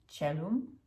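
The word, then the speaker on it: caelum: this also creates the the change in the pronunciation of c from ketucha so we will have chalum cello chalum cello chalum and the plural chella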